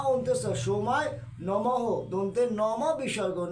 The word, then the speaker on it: নমঃ: অন্তঃ সোমায় নমঃ, দন্তের নম বিসর্গ, নম বিসর্গ উচ্চারণ হচ্ছে হ হয়, তাই নমঃ।